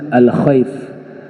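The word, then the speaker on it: مسجد الخيف: Tempatnya dikenal dekat Masjid Alkhaif. Ya, dibacanya Masjid Alkhaf.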